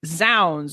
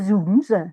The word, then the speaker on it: zounds: But so Shakespeare's plays are indeed full of, I say Zounds, because I think it's for God's rooms. But I've seen that, I've heard that you pronounce it Zounds. Maybe there are the two pronunciations.